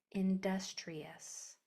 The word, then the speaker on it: industrious: That I is sounding like an E because it's toward the end of a multisyllable word and there's a vowel after it.